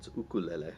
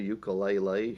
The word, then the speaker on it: ukulele: I'm in Hawaii, and that's how we say a Hawaiian word in Hawaii. But if you want to call it a ukulele, you can call it anything you want.